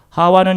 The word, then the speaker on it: 하와: 되 믿어라 아멘 보세요 하와는 히브리어 식 발음이 고 2분은 하와의 헬라 오직 표기입니다 하와이 부 똑같은 말이에요 자 이 이름의 뜻은